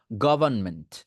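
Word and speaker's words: government: আমাদের অনেকের প্রবলেম হয় এইটার মধ্যে আর টাকে বাদ দিয়ে দেন জাস্ট আর টাকে বাদ দিয়ে দেন উচ্চারণের সময় গভর্নমেন্ট গভর্নমেন্ট গভর্নমেন্ট গভর্নমেন্ট গভর্নমেন্ট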